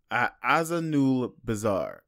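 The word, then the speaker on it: Azanulbizar: Azanul Bazaar. Azanul Bazaar. Like two words but smushed together.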